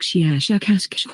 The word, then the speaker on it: Shiashakask: of your human letters, something like Shiashakask with a very, very strong pronunciation of the SH and K sounds.